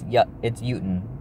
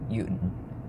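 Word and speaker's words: Jötunn: I don't know why the movie pronounces it with Jotun, or Jotun, or whatever they pronounce the movie. It's Jotun. Jotun.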